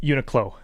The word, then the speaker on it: Uniqlo: How do you pronounce that clothing? Uniqlo? Uniqlo. Uniqlo? Uniqlo. Oh, there's an L there.